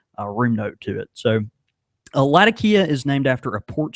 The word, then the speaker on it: Latakia: And and it actually, you know, most people over there are going to uh you know, refer to it more as Latakia. Uh that's kind of the pronunciation. That's the correct pronunciation. It it's Well, I'm I'm butchering it in my southern brow, but yeah, they say Latakia.